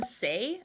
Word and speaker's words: Saie: This is from Saie, I think is how you say it. S-A-I-E.